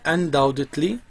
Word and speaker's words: undoubtedly: Language is undoubtedly، طبعا البي لا تلفظ، a kind of means، نوع من وسائل أو الأدوات of communication among human being، بين بني البشر.